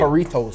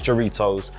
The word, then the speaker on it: Jarritos: Jarritos, fam.